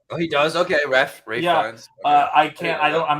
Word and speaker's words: Ralph Fiennes: He plays Voldemort in Harry Potter movies, and I thought it was Ralph Fiennes. Oh, okay. No, he goes. If he pronounced it Ray, I know I'm not. Oh, he does. Okay, Ray Fiennes.